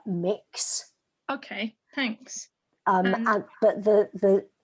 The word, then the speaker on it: Mx: how to say it so the title is mx right yes yeah so i've heard that pronounced and that as uh mix okay thanks um but